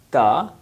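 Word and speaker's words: ت: Ta is like T-A, ta. Its place of pronunciation is this, ta, like something like our tongue, front corner of our tongue will touch to the upper side, upper roots of front upper teeth, that is called ta.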